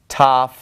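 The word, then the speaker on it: ταυ: group I like to remember is Rho Sigma Tov eeep Ceylon and the reason I like these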